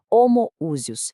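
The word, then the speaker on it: ὁμοούσιος: E essa palavra foi homoousios, pronúncia clara, homoousios.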